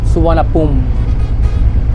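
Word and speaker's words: Suvarnabhumi: ng airport isar Naomi pero yung pronounciation dito sa Thailand isana Isusulat ko yung pangalan yung ano yun yung spelling ng pangalan ng airport dito so yun yung prononciation n Thailand is suan pum yon Mga kalagan yung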